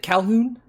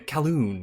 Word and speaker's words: Calhoun: with h Calhoun is it Calhoun yes okay great sometimes you got like the callon or something like that silent h in there but go ahead